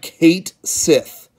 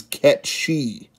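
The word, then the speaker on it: Cait Sith: It looks like Kate Sith. But I have been told a long time ago that it was Ketchi.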